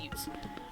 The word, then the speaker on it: ute: So it is pronounced Utes.